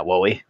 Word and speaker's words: Wally: What's up, Wally? Wally? Am I saying it right? Wally? Yeah, Wowie. Yep, like Wowie Powie.